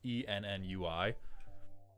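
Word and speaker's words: ennui: type of like permanent onwei. I don't know how to pronounce that word. It's e nui.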